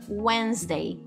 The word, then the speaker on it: Wednesday: A gente também tem palavras que o D não é pronunciado, tá? Que é o silent D. Como, por exemplo, quarta-feira. Uma palavra muito importante, né? A gente não fala esse D. Simplesmente ignora ele. Wednesday. Wednesday. Inclusive, o E depois do N também é mudo.